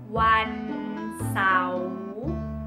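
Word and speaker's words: วันเสาร์: Saturday is Wan Sao. Wan Sao. You will speak faster than me. Wan Sao. Wan Sao. Wan Sao. Because if you say it like this, Wan Sao, the Thai people will laugh at you.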